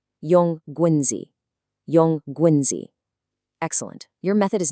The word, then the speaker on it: 用棍子: And since 用棍子 can be a little tricky to pronounce, let's repeat it slowly 3 times to really lock it in. 用棍子, 用棍子, 用棍子.